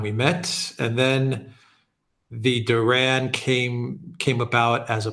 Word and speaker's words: The Duran: meet and for the listeners it's the the Duran is that how you pronounce it yes correct how did the two